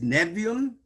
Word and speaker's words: Nevi'im: Well, it's really more in favor of our pronunciation because we have 2 I's stuck together. And so they just tell you you're supposed to stutter when you get to Nevi'im.